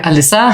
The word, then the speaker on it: Alyssa: Dance Company in the northeast of England hi Alyssa how are you hi I'm good thank you